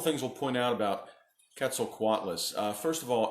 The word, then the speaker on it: Quetzalcoatlus: lemonade out of lemons so today's animal is Quetzalcoatlus Quetzalcoatlus sometimes pronounced quetzel koalas it is not a dinosaur it is a